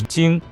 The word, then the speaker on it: 精: for today is Jing pronounced as Jing first tone this potent term in